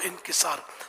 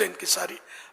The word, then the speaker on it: انکسار: والا، انکساری، عجز و انکسار، تو منہ سے انکساری نکل جاتا ہے، یہ عام ہے لیکن لفظ انکساری لغتاً غلط ہے، انکسار صحیح تلفظ ہے، تو عجز و